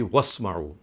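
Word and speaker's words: واسمعوا: So basically the word is isma'u, but when you read it by joining it with the letter waw, so then the joint pronunciation would be wasma'u.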